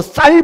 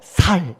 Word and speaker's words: 쌀: 경상도 어떤 지역 사람들은 쌀 발음을 못해가지고 야, 너 쌀 발음하면 10만 원 줄게. 좋아. 살 이렇게 합니다.